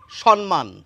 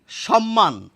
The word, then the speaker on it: সম্মান: পরে দেখুন লিখে রেখেছি সম্মান লক্ষণীয় এই দুটি জায়গায় কিন্তু আমরা তালব স দিয়েছি আসলে বানানে দন্তস আছে কিন্তু উচ্চারণে কিন্তু তালবস আমি এই যে তিনটি